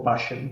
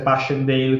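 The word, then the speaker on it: Passchendaele: l'altro io temo che la pronuncerò molto all'inglese tipo Passion che dovrebbe essere Passion Dale quindi la pronuncia allinglese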